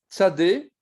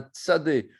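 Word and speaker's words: צ: Donc, on prononce comment? On prononce TS. TS. C'est la 18e lettre, elle se prononce ts. Elle peut être ponctuée au centre, mais en tout cas, c'est ts, c'est toujours ts.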